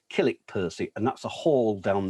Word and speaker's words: Kilnwick Percy: but it's spelled kilnwick percy but it's locally pronounced kilik percy and that's a hall down there that can